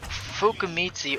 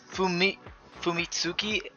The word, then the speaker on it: Fumitsuki: Now Fukumitsu, or I said her name wrong, Fumitsuki, I think I said Fumitsuki Kaguya Hime.